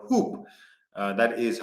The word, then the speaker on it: Huupe: Uh we have top deals uh of the week which begins with a basketball company called Hoop. Uh that is how you pronounce HWBE.